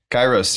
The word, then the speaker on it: Kairos: so i'll probably that up too is it kairos kairos yeah yeah yeah you're probably the first one to get how we at least pronounce it yeah so what is what is